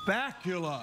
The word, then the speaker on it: Bakula: Bakula. Yeah. There you go. Very good. Yeah. Very good. It is pronounced like that, though, isn't it?